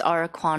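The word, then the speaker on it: Ahra Kwon: Today, I have Ara Quan, the applicant's daughter, to provide testimony regarding the property's use. Summer. So, my name is Ara Quan. It's spelled A H R A K W O N.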